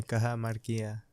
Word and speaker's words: Cajamarquilla: Is this Cajamarquilla? Yeah, Cajamarquilla.